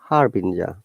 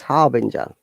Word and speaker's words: harbinger: song gangnam style but look at this word is it harbinger or harbin what do you think there is e sound after g according to the rule it should be harbinja so let's find out is it harbinja or harbinga harbinger so the rule is okay it is harbinger so it's a noun